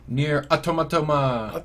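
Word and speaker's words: NieR: Automata: Near Automata. Yep, that's how. That's how it's pronounced.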